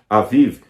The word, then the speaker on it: Aviv: era chamado de mês de Aviv, ou Abib, como alguns pronunciam, o mês da primavera.